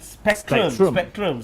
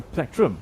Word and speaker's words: plectrum: annoyed with this because people call it spectrum. Spectrum. It's not a spectrum. it's a plectrum.